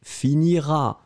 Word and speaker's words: finiras: première personne deuxième personne tu finiras à esse esse final pas prononcé ça c'est clair je